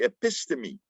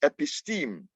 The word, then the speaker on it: episteme: context also um the the concept of the epistemy right the world view sometimes it's pronounced episteme right the epistemy the worldview